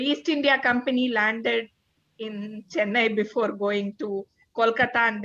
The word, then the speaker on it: Chennai: And wow, so and you're based in Chennai? Is that how you pronounce Yes. it? Chennai?